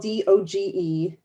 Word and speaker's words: doge: what's really interesting about doge um and yes doja spelled d-o-g-e um and it's it's pronounced as doge which is a very weird